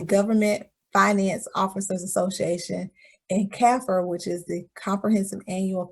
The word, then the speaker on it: kaffir: GFOA is the Government Finance Officers Association, and CAFR, which is the Comprehensive Annual Financial Report, and often referred to as CAFR in the accounting world.